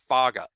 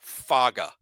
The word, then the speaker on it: Faga: Last name pronounced Faga. Emphasis on F-A-H. Faga.